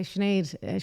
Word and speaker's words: Sinead: you say your name i say sinead schneider o'connor and then they go